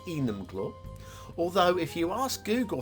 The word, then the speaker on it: Enumclaw: was where i was going but apparently it's enum claw although if you ask google how to pronounce it i think google tells you enemyclaw so we'll just uh yeah i found two